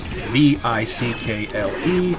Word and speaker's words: Vickle: That's V I C K L E. Vickle rhymes with sickle or pickle.